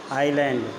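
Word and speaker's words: island: traditional आयरलैंड है कि यह साइलेंट हो जाता है इसको आयरलैंड पड़ते हैं कि आईलैंड इट इज ए कर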